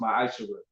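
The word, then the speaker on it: מעשר: Means 10th in Hebrew and is pronounced ma'asherah.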